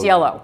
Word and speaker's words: Cielo: and I'm not sure I'm gonna botch the pronunciation. Is it Cielo or Cielo or Cielo? Cielo.